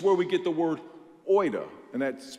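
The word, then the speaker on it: oida: the Bible it's where we get the word Oita and that's pronounced it's spelled o-i-d-a it means factual content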